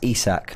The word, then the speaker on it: Isak: get top four yeah fresh prince says is pronounced isak oh his name is zusak thank you very